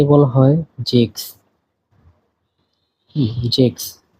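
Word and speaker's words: sechs: এরপরে 6 কে বলা হয় জেক্স।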